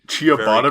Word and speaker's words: ciabatta: I know it is pronounced ciabatta, but I Oh.